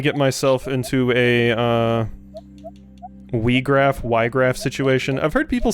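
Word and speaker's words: Wiegraf: not strong enough but I always said Wiregrass but um I think maybe in like the uh War the Lions version of tactics they specifically pronounce the name as we graph so oh [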